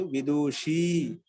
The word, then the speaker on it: విదుషి: సార్ విదుషిలో దు హ్రస్వ ఉకారం అండి, దీర్ఘ ఉకారమా? హ్రస్వ ఉకారం విదూషి. నేను దీర్ఘం చెప్తున్నా కదా, ఉచ్చారణ అలా అనిపిస్తుంది. విదూషి, షీ మీద దీర్ఘం అండి, ఉకారం ఉకారం హ్రస్వం.